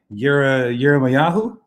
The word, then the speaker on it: Yirmiyahu: Yirmiyahu?